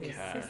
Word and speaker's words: cache: This is the Teis systems data cache used only for temporary storage. Oh, so that's how you pronounce that word cache. Okay. Access here should be restricted. That's called cash.